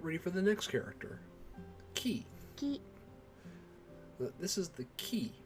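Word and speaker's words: き: a single syllable whereas this one is key or like an english key like you're keying or keying a lock that's that's how i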